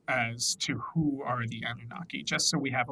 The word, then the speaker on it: Anunnaki: I say it wrong, I'm so sorry, the Anunnaki in her new book, The Anunnaki Revelation. Now, Heather, please correct us. Um, Anunnaki, that's good.